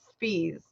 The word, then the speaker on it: Spies: aka May Day August Spees it's spelt spies SP IES and but his name is August B's fees and he was executed